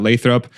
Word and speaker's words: Lathrop: Like a 50%, 100% growth quarter over quarter because of that Lathrop? By the way, kudos for pronouncing Lathrop correctly.